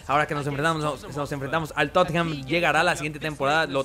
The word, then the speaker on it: Tottenham: Tottenham, se pronuncia así como Tottenham.